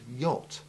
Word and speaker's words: yacht: The first is the silent CH in the strange word yacht, which we came across first when looking at words with the short A5 sound.